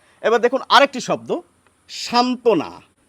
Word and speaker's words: সান্ত্বনা: এবার দেখুন আরেকটি শব্দ সান্ত্বনা এর নিচে একটি ব হয় এই ব ফলার জন্য কিন্তু আমরা বাড়তি কিছু উচ্চারণ করছি না আবার এরকম শব্দ অনেক